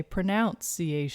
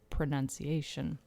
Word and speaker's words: pronunciation: we talk about pronunciation a lot of people say pronounciation pronunciation the same way you would say pronounce but when you say pronunciation isn't that interesting yeah that's a good